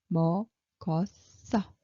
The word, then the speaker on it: 먹었어: So how Korean people pronounce it? 먹었어.